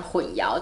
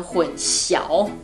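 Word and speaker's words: 混淆: 提到的，就是混淆。混淆我们都是讲混淆，但是如果中国大陆的观众会念成混淆。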